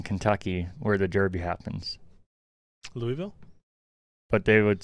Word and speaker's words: Louisville: Louisville? But they would say it's Louisville, and they say it's not an accent.